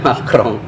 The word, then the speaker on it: Macron: Macron tulisannya cuman bacanya Macron.